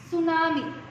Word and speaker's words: tsunami: T silent होता है and we pronounce it tsunami.